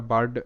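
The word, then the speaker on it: bird: আর ডি এটার উচ্চারণটা বার্ড বি তে ব আই এর উচ্চারণটা আ তাহলে বা আর তে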